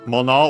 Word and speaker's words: mono: technically, it would be mono. We've studied this kanji. Usually means thing, as in object. Contrast with thing, as in matter, koto. Both accent on the last syllable, plus more.